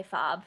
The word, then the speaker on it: FOB: So, favorite Fob album. Okay, so first of all, yeah, I do say Fob, and I don't say F-O-B. I say it so, like, that's too many syllables.